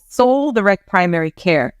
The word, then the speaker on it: Sol: opened a practice called Soul direct Primary Care soul is spelled s-o-l and that is a